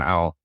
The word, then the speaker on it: Alse: I had this connection with Alse and her daughter. And so it was soon after that I decided to carry the name Alse, or Alse is how I pronounce it.